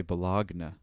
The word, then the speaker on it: bologna: way it's spelt apparently people in the uk pronounce baloney the way it's spelt so i think they say bellogna why don't we look